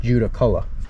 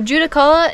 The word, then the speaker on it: Judaculla: from the giant called Juda Cola so judicola is the English pronunciation of a Cherokee word for they're equivalent to Bigfoot the direct translation for judicala is slant-eyed Giant so